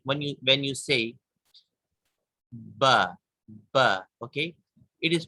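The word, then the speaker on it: ث: The thing with sa is that when we pronounce sa, we put the tip of our tongue under upper teeth like this.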